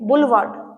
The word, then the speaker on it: boulevard: बुलवार्ड। ठीक है, pronunciation आपने सही करनी है, BOULEVARD।